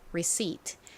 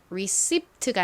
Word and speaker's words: receipt: receipat 철자도 한번 떠올려 보세요. 철자는 r E c i pt입니다. 여기서 p는 묵음으로 소리가 나지 않기 때문에 receipt가 아니라 receip receip 이렇게 발음된다고 말씀드렸죠.